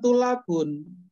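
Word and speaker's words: الطلاب: nanti merubah konsep jangan tula Bun sekalipun alif lam pakai alif lam Karena itu adalah huruf Syamsiah maka bacanya seperti bertasydid tulabu jadi harus sempurna cara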